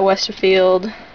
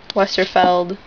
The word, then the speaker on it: Westerfeld: book in the Uglies series uglies by Scott Westerfield westerfeld okay yeah um Emily the strange by braad